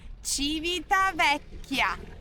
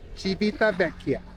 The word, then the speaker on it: Civitavecchia: You pronounce the name of the city? Civitavecchia. Civitavecchia.